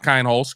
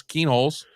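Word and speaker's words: Kienholz: Lincoln Keen holes uh we've been mispronouncing it for the first day but now we well maybe not Tony but uh not kind holes Keen holes and uh you know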